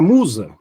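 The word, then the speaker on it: μοῦσα: Então, a pronúncia do ditongo ou não existe. É o u.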